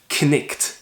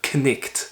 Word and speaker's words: knight: Well, in Chaucer's day, all of those consonants would be pronounced. Talking about the knight, as in the Knight's Tale in the Canterbury Tales, you'd refer to him as knicht, the knicht, which is